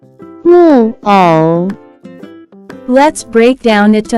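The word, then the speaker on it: 木偶: can be pronounced as 木偶，木偶，木偶。 Let's break down it to understand it even more. It has 2 characters, pronounced with 4th and 3rd tone.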